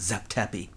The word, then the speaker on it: Zep Tepi: period they referred to as - it's usually pronounced Zep Tepi - meaning “first time” or “first occasion.”